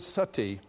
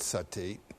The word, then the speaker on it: Sati: important you know the word Sati in Sanskrit it's spelled s-a-t-i long eye that word Sati comes